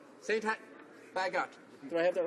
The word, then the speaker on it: Saint-Hyacinthe-Bagot: How do you pronounce that? Saint-Hyacinthe-Bagot. Saint-Bagot.